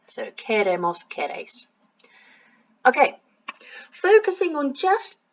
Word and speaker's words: queremos: the beginning, quiero, quieres, and without the I it's a que kind of sound, so queremos, almost like you're saying care, as in I care for someone, so queremos, queréis.